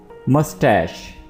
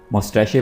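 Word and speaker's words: mustache: मस्टैश, मस्टैश कुछ लोग इसको मोस्टैक पढ़ते हैं और कुछ लोग जो है वो इसको मोस्टैशे पढ़ते हैं। तो इसकी जो सही प्रोनाउंसिएशन है वो है मस्टैश।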